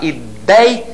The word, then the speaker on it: ideia: Ela apresenta o ditongo ei, com essa pronúncia, aberto, e na sílaba tônica, ideia.